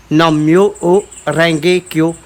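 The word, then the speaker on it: Nam Myoho Renge Kyo: Ce mantra, ça se dit Nam Myo O Renge Kyo. Alors ça s'écrit N-A-M, Nam.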